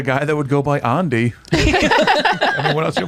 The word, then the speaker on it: Andy: His name's Andy, but they pronounce it Andi.